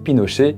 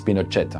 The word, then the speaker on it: Pinochet: Et déjà là, ce qui doit vous étonner, bah c'est que Pinoché bah ça peut se prononcer à la française parce que Pinoché ça fait très français même si les Chiliens ils disent Pinchet.